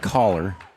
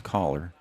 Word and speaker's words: Kaylor: I was told to pronounce it caller. It's spelled Kaylor, but I was told to pronounce Coller.